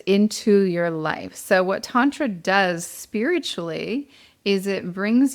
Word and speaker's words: tantra: Yeah, I mean what I would add is the word itself, tantra, not to be pronounced tan-tra, my friends. Tan is a color.